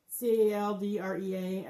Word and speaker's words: Caldrea: and it's called Caldrea, C-A-L-D-R-E-A. I think it's Caldrea, how you pronounce it.